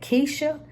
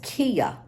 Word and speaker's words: Kia: I mispronounced her name I said Kesha it's not Kesha it's so easy for me to say that name because I have a niece named Kesha but her name is Kia k i a Kia